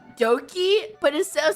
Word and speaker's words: Doki: it's spelled, it's like Doki, but instead of spelling with a D, they spelled it with a B or some shit, but it's also still pronounced Doki.